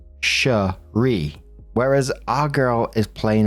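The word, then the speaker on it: Cherié: One thing I would like to point out, girlfriend's name is spelled Sheree, C H E R I E with a little accent over the last e and pronounced shri, whereas our girl is plain old Sherry, like berry.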